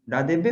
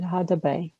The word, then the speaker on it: Hadebe: Which is correct name? Ladebe or Hadebe? Hadebe. Hadebe, right? Dr. Young said Hadebe. So Hadebe is correct.